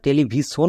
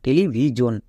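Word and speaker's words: television: জন্য এখানে জোন হবে তাহলে এটা কি দাঁড়াবে টেলিভিজন টেলিভিজন একে আমরা টেলিভিশন বলবো না টেলিভিজন কোনো এর আগে ভাওলের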